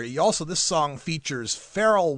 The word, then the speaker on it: Pharrell: also this song features frell Williams or is it farell I'll probably pronounce it right is it farell farell that's what he say all right so farell Williams on this track